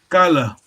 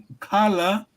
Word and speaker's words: kala: If you say kala, you mean tomb. Tomb, yes? Letter David, did you hear that? That's Kikongo. Make sure you pronounce correctly. There's no N, there's no nasal.